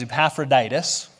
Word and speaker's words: Epaphroditus: probably like i have no clue how to pronounce that that name is epaphroditus and then we have this group of people